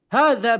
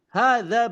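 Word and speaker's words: هذا: Jadi ee pengucapan yang benar adalah yang pertama sesuai dengan makharij huruf itu sendiri. Hadza baitun. Hadza baitun.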